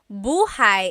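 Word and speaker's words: buhay: Shir said, I always make a mistake with bah and so bahigh is house. Buhai is your life.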